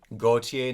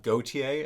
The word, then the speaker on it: Gotye: um pronounced like the French name uh Jean Paul Goautier the fashion designer Goautier not Goautier as I as I learn researching this uh